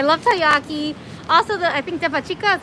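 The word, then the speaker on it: デパ地下: Also, I think depachica, is that how you say it? The underground underneath the mall. Oh yeah, the pachka. Devachika.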